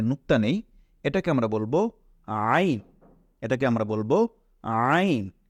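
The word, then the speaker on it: عين: নেই এটাকে আমরা বলব আইন এটাকে আমরা বলব আইন এটা ভেতর থেকে চাপ দিয়ে পড়তে হয় আইন গলার ভেতর থেকে আনতে হয় এটাকে আমরা বলবো আইন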